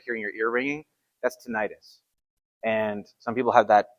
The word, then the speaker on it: tinnitus: Some people pronounce it tinnitus. I pronounce it tinnitus.